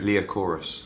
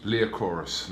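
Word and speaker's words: Liacouras: Can you pronounce me the name of the venue? Leochorus. Leochorus.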